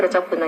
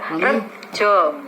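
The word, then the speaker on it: Retjo Buntung: TJ-nya itu Reco Buntung itu seperti itu. Nanti itu perlu penjelasan lebih lanjut. Bukan dibaca Rejo.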